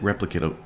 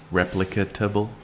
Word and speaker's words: replicable: The important part is it replicable? Bruh. Okay, I don't know how to say the word. Is it okay, can't say it. Replicate it. Replicatable?